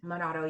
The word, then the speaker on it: Minato: And Hiroshi Mayano and another boy named Nabaharu Minato, is that how you pronounce his name? Minato, yes.